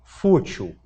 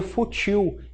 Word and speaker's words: fútil: Agora, se você não acentuar aqui, uma pessoa que está aprendendo a língua portuguesa vai ler futil, igual ler sutil.